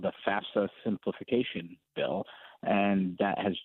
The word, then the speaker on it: FAFSA: or have gone there, the federal, it's the FAFSA is how I pronounce it.